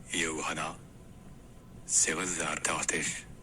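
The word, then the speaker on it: Jóhanna Sigurðardóttir: In Icelandic, her name is pronounced Johanna Sigurðardóttir. So Johanna Zivozardóttir-ish, maybe.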